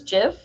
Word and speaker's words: GIF: like, oh man, Malia pronounces GIF with a soft G, like GIF.